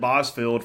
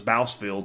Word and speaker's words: Bousfield: his name from anybody everybody just said Boz filled for many years and even the PA announcer and it was bousfield and I think they